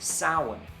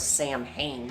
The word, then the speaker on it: Samhain: out there start going it's pronounced sound i already know how it's pronounced okay i already know about the proper pronunciation but even glenn danzig himself says samhain when he's talking in shorthand